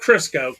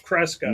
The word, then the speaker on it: Cresco: Not Crisco. Cresco. Not Crisco.